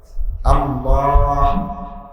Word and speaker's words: আল্লাহ: মধ্যখান হইতে বাইর হতো আল্লাহ শেষে একটা ছোট হা আছে আল্লাহ এই এই এটা উচ্চারণ করতে আপনি সুবহানাল্লাহ সুবহানাল্লাহ সুবহানাল্লাহ কি হাত উচ্চারণ আল্লাহ একটা হা আছে না তো এইটার উচ্চারণ